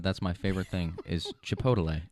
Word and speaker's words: Chipotle: my favorite thing is chipotle it's just it's very i remember you it's very melodic it's very like rhythmical chipotle two syllables chipotle three three three chipotle not four syllables yeah i love it